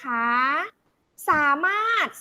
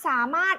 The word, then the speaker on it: สามารถ: ออก เสียง นะ คะ สามารถ สามารถ รอ เรือ ไม่ ออก เสียง ใช่ มั้ย อยู่ ตรง กลาง ประพฤติ สระ อิ ไม่